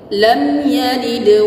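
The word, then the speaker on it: لَمْ يَلِدْ: Nah, di sini perlu diperhatikan, mim sukun di sini tidak berlaku hukum gunnah ataupun samar. Jelas izhar syafawi. Lam yalid, lam yalid, jangan didengungkan, jangan lam yalid ya. Lam yalid, qalqalahnya harus pas, benar.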